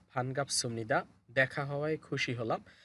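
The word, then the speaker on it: 반갑습니다: এরপরে ওই ব্যক্তি বলতেছে মান্না স দেখা হওয়ায় ফান গাপ সুমনিদা। সুমনিদা কেন হবে? এই বিউব বা সিমের পর সামনে নিউন আছে, এই জন্য বিউবটা এখানে ম হবে। তো উচ্চারণ হবে ফান গাপ সুমনিদা।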